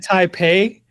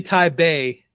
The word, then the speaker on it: Taipei: Uh, because it's actually Taipei with a B and not a P.